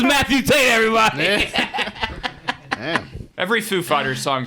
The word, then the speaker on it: Foo Fighters: Food Fighters? Foo Fighters.